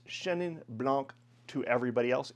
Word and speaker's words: blanc: pronounce the C, but in France generally, If the word doesn't end in an E, you do not pronounce the next consonant. Weird, I know, but that's how you do it. So this would be Chenin Blanc. The word for white in French is blanc, not blanc.